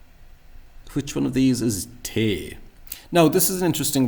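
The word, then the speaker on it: té: So that So I suspect that this is going to be mispronounced as something like tay, when it should be te.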